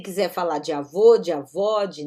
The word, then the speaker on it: avó: Abuela, avó, com acento agudo, tá bom? Esse O é mais estendido.